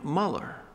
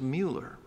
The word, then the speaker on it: Mueller: And I made the mistake early on of calling him Muller. And he corrected me. He said, no, the correct pronunciation is Mueller.